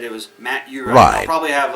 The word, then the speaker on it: Uhrin: He said it was Matt Uhrin. I'll probably have like a sound bite to play over that, because he said it's U with the river Rhine, in Germany and all that stuff.